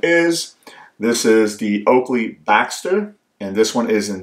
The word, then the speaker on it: Baxter: know it's spelled b-a-b-x-tr some people think it's the Boxster but it's actually called the Baxter and that is because